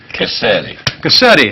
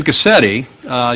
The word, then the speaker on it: Gusctte: Gusctte. How could I mispronounce that? I've been practicing it all morning. And Bill Whipple. But Jim Gusctte, you spell it with a C, but the C is silent.